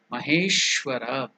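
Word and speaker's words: महेश्वर: The words becomes japam japam siddha siddha maheshwara maheshwara that is the pronunciation I will chant it Okay.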